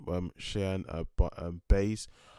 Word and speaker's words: Buys: uh but um base i had her name being pronounced as base not bars because her name is her name a certain agent pronounced or spelled b-u-y-s as if buys if you're buying something but um yeah i'm